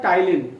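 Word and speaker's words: ptyalin: दूसरा नाम अभी बताया टंग में टी से टंग और टी से टाइलिन, पी साइलेंट है, enzyme secreted bye सेलेब्री gland via saliva.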